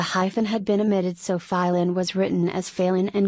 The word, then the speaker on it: Pailin: Due to their frequent traveling there, the hunters called that place Pailin or Stlov, taking the name after the otters they saw from the beginning.